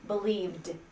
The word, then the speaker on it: believed: Believed sounds like a D at the end. Believed.